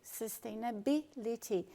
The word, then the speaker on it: sustainability: No caso de sustainability, você vai intensificar bill, sustainability.